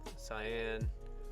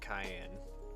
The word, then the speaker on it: cyan: so you got black cyan or yellow so a lot of people pronounce it Cayenne but it makes the S sound so the you know